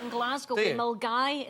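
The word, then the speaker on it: Milngavie: with Milgai. It's spelt Millingavi, but we pronounce it Milgai.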